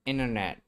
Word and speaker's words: internet: first t consonant what happened to first t consonant it's there in the spelling it's there in spelling I clearly see two t letters I clearly see two t letters but only the second t is pronounced only the second